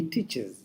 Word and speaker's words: teaches: But the pronunciation comes as ez. We say teaches.